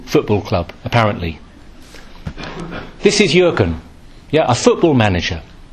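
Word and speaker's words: Jürgen: manager at Liverpool Football Club apparently this is yuren yeah a football manager not a priest not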